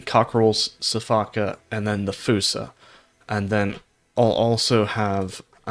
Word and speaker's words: fossa: Yeah, from what I'm seeing, Fusa is the correct pronunciation.